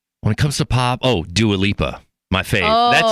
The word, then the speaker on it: Dua Lipa: And nobody even knew how to pronounce her name. Dua Lipa? Nobody knew how to say it. And I'm like, it's Dua Lipa.